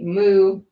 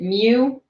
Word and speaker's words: Mu: But these are the Mu. Yes, it's pronounced that way. Although if you want to pronounce it Mew, you're allowed to do that as well.